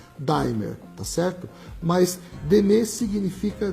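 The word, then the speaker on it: D'aimer: qualquer parte do Brasil pronunciar a palavra como ela são como ela é lida dier tá certo mas dem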